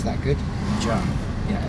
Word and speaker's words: Mgarr: Did I pronounce that good? Mgarr. Yeah, Mgarr.